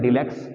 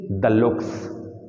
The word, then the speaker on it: deluxe: learn earlier Deluxe but sorry it is not Deluxe it is the looks it is the looks white is the looks because it is French term is pronunciation right they mean double looks mean luxury l u x u a r y luxury so it is double luxury is called the looks not Deluxe it is